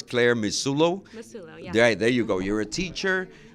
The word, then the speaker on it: Massulo: And let me see if I don't really mispronounce. I know it's Clare Massulo. Massulo, yeah.